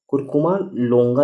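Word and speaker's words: Curcuma longa: कुरकुमा लोंगा इसे बोलते हैं, प्रोनाउंसिएशन देख लीजिएगा मेरा।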